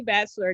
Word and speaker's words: Batchelor: But until that day, it's Bachelor. Bachelor is spelled Batchelor.